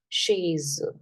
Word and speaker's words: chaise: Chaise. E being the last letter, we just ignore it.